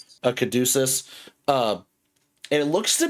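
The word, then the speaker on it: caduceus: A kaducus.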